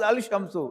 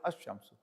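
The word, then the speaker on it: الشمس: Actually tashdeid was not there on shamsu but according to the idom it is not pronounced as al- shamsu it is pronounced as ashamsu.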